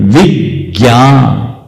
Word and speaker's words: विज्ञान: ज्ञ संयुक्त है, इसलिए इसको बोलते हैं विज्ञान।